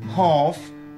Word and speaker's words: half: Et cela provoque la disparition du L. Et on retrouvera cette règle dans les mots suivants. Kampf, kamp, hanf, hand.